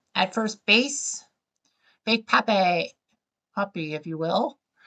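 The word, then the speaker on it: Papi: great David Ortiz at first base big Pap poppy if you will pronunciation is key but yeah Big Poppy a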